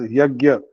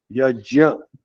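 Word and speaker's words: यज्ञ: So Yajya, generally we pronounce it as Yagya, Jnana, but correct pronunciation is Jnana, Yajya.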